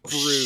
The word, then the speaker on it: Bruss: Last name BRUSS, pronounced Oh, Bruce.